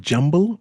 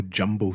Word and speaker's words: jumble: Wash House Mr nuuri is it jumble or jumbo sale it's jumble how you spell that J MBL really yeah all my life of been say jumbo yeah but I can't